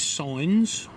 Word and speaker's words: Sines: had for our entire trip so this is sines or sin e's lovely lovely beach with an